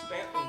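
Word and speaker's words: Staunton: better before that we were in Stanton Virginia every time you folks come down there you pronounce it ston Virginia we had a crowd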